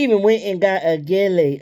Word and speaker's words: gele: She even went and got a gele. Is that how you pronounce it, gele? Because I don't think the G is pronounced like H. I think it's called Gele, Gele.